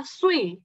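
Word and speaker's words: 碎: Kan pecah itu dalam bahasa Mandarin bacanya sui.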